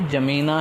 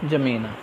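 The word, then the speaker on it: N'Djamena: तो वैसे तो अन ये हिंदी में लिखा है, वैसे ये जमेना ही है, जो इसका प्रोनाउंसिएशन होगा वो क्या है, जमेना।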